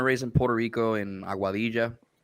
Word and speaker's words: Aguadilla: was born and raised in puerto rico in aguadilla there you go that's actually a really good pronunciation um and uh i went to school